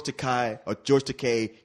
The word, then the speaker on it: Takei: It's Takei. Look, rhymes with toupee.